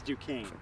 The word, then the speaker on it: Duquesne: about how about duquesne it's duquesne i like to call it duquesne because it's spelled with a queue you know what i